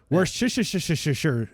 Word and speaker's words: Worcestershire: name Worcestershire sauce Worcestershire Worcestershire sauce don't enunciate and you'll say it right yeah we're Shard yeah